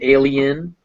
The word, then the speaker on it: alien: like the letter e the letter i is also pronounced e if it's before another vowel that is pronounced separately so idiot and alien uh both those vowels